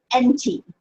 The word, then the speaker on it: enti: So we change the A at the end of enta to an I. It should be an I. I guess it was a capital I. It should be a small I. But it's pronounced enti.